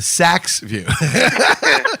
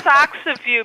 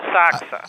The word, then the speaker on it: Asakusa: No, it's a Socks of You because in Japanese, that I'm so fluent, you don't pronounce the U. I don't know why it's there, but so it's a saksa.